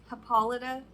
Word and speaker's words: Hippolyta: because it was bugging me her name is paulita now she's the queen of the Amazons honestly